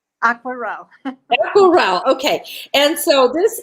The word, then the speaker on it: Aquarelle: And it's called Aqua Royale. Did I pronounce it correctly? Aquarelle.